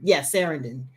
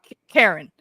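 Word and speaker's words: Círdan: I think it was talking to him and trying and showing him C-I-R, Sarandon. No. They pronounce it with the K. It's Karen. It's Karen.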